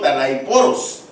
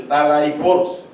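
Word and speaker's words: ταλαίπωρος: Fíjese que este es del griego talaiporos, así como lo pronuncio, talaiporos, que significa infeliz, malvado, sin valor, perverso, angustiado.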